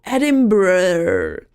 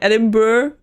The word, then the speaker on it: Edinburgh: I don't get it right because in Dutch we would read it as Edinburgh. And then I heard it in English. I'm sorry, and I was like, this doesn't make sense. They add like 5 syllables.